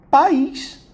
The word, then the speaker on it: país: A palavra pais é um monossílabo, tá? Só tem uma sílaba. É um monossílabo. E a palavra país é um dissílabo. Tem duas sílabas, tanto que eu tenho uma letra, né, uma vogal em cada.